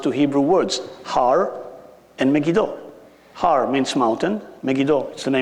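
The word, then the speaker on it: Megiddo: hosana same you're speaking about Armageddon and mistakenly pronounced two Hebrew words har and megido Har means mountain megido is the name of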